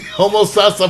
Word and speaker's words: Homosassa: She was born in Denver, Colorado, but she moved to Homosassa. Did I say it right? Yeah. Homo Sasa, Florida.